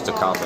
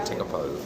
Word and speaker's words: Tekapo: It's actually pronounced Tekapo. I thought it was Tekapo. It's actually Tekapo, and really good.